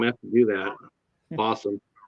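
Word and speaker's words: Fawesome: Fossum. I keep on thinking Fossum Possum. Awesome Possum. And it's spelled like awesome too, but it's F-A-W-E-S-O-M-E.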